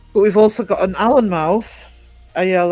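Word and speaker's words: Alnmouth: But we've also got an Allen mouth. Al N O U T H cuz it's the mouth of the river Allen and what anx. And you do say the Allen mouth.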